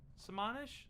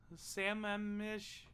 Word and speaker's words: Sammamish: is in samarish salmonic samanish salmon mish i don't it's not salmon there's no l there sam mish can you type it